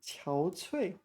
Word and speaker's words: 憔悴: So here it's pronounced qiao cui.